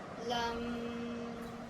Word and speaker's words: lam: Lam, Yum.